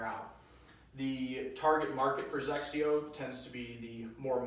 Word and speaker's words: XXIO: First off, XXIO spelled XXIO, pronounced similar to Xerox for those who aren't familiar with the brand.